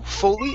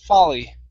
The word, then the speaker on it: folly: is folly right here instead of full fully it's an ah sound folly funny okay good next